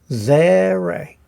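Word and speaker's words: Tsere: And this is called a ze-re. Ze-re. And we can see it's a longer sound, like an E sound.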